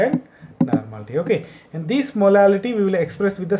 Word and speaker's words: molality: Okay, pronunciation is very important. Molarity, RT. And in the next we have two more expressions, that is the molality, ality. Okay, molality and normality.